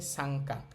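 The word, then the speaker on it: 三課: তো ন সাউন্ডেরর পরে কা লাইন মানে কা কি কু কে কো একটা বর্ণ থাকলে অথবা গা লাইন গা গে গু গে গো কোন একটা বর্ণ থাকলে ন এর উচ্চারণ অং হবে এইজন্য আমাদের এখানে ন এর পরে কা থাকার কারণে ন এর উচ্চারণ অং হচ্ছে তাহলে শব্দটার উচ্চারণ হবে সাংকা দাই সাংকা অর্থ হচ্ছে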